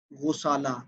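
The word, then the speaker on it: غُسالہ: کی جاتی ہے غسالہ۔ غسالہ یہ اصل تلفظ ہے، غائن کے اوپر پیش ہے، غسالہ، غسالۃ الماء۔ مثلا آپ کے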